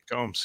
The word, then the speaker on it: Combs: It may be pronounced Jeffrey Coombs. I don't know. We may have done a whole supplemental where I said it wrong the entire time. I think you're I right. don't know. Combs? Combs, yeah. I think so. Yeah, I thought it was Seems- Combs. Yeah. Okay.